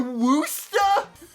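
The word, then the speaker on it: Worcester: Our pronunciation of Worchester is very different. You say it is a worooster.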